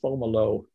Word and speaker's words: Fomalhaut: form homolo formal oh it's a french word you fomolo i always said fomalhaut jerry yeah well that's